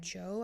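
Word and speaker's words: Djo: end of Beginning by Joe I think is how you say like DJ o um but I saw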